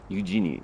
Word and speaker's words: Eugene: her him for her Eugene Eugene that's how you pronounce what's this a gift